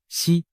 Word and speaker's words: 石: 胡锦涛，实在某些方言里读作西。